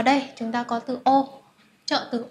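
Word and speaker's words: を: ô và động từ từ ô này như các bạn đã học xuất hiện ở trong bảng chữ cái nó cũng đọc là ô giống chữ ai người ô đúng không Tuy nhiên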